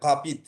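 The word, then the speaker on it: rapide: একটু পার্থক্য আছে, ইংলিশের সাথে মিল আছে, এটার উচ্চারণটা তখন হয়ে যাবে ঘাপিদ, ঘাপিদ।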